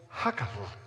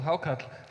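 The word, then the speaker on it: hákarl: Iceland's national dish and it's called Huckle not quite but it's called how cut yeah that's what I said how come one of the charming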